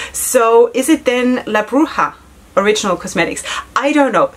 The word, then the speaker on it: Bruja: Because I've been advised that the J is in Spanish pronounced as an H. So is it then La Bruja Original Cosmetics?